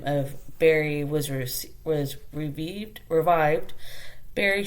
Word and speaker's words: Barre: So it is spelled b a r r e, but pronounced Berry.